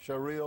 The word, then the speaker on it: Sharia: us a little bit about how do you pronounce the shiara law sh Sharia law Shar law okay and Shar law is